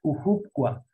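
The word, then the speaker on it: cuhupqua: es el número seis cujucua miren que la H se pronuncia como J la J No la hay en muy en en la H que se pronuncia como J por eso se pronuncia cujucua subfusa es el número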